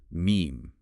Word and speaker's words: meme: And he came up with the term meme. He shortened the Greek word mumme, which means that which is imitated. And it rhymes with gene.